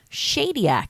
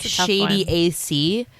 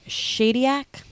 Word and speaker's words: Shadyac: 1997 directed by Tom Shadyac it's how you say his name it looks like shady AC like shady a cool